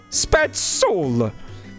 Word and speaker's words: Spazzola: When you have 2 Z's next to each other in Italian, you pronounce it with like a TS sound, like tss. Spazzola!